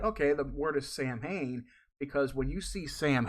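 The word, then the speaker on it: Samhain: different parts of the Celtic area pronounce it differently that's probably why yeah you got some that'll say sam Hayne and some probably say you know Salen but even like when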